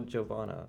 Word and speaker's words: Giovanna: It's just like a J sound. It's Giorno Giovanna. Giorno Just a regular J sound.